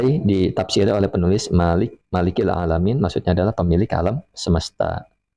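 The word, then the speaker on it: العالمين: Bifahatil lam dengan dibaca lamnya di fathah. Nah, nih diajarkan cara baca ya. Maksudnya cara baca yang benar bukan ee lamnya bukan dengan kasrah seperti itu. Jadi alamun alam eh alamin ya alamin ini kata Imam Ibnu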